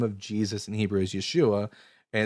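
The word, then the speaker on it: ישוע: Now, as we just discussed a couple of days ago, everyone, the name of Jesus in Hebrew is Yeshua, and it's spelled yud shin vavin.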